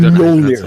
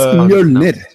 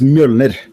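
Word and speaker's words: Mjölnir: But it's not fucking Mjolnir. Fuck you guys. It's Mjolnir. Depends. Mjolnir. Does not depend. It depends on what you come from. Yeah, but the Norwegian pronunciation is Mjolnir.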